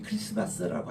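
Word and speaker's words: Christmas: 메사라 그렇게 합니다 우리 크리스마스라고 할 때에 크라이스트 플러스 매스 미사거리 준말로가 하나가 탈락되고 크라이스트고 할 때 티가 또 묵음이 되고 해서 크리스마스라고 합니다 그리스도를 위한 미사가 성탄 이제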